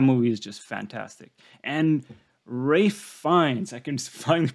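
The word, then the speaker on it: Ralph Fiennes: ever yeah that movie is just fantastic and Ray finds I can finally pronounce his name correctly uh in the menu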